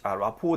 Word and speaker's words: rapport: 근데 R 발음이 마지막이라서 T는 silence, 묵음이거든요. 그래서 이런 발음 같은 경우도 제가 이런 식으로 좀 주의하라고 수록을 해놓았다. 라포 대신에 feel connected를 쓰셔도 좋겠죠.